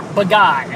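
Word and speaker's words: Badguy: But anyway, his name's spelled Bad Guy, or Baguy, I think is how you're supposed to pronounce it.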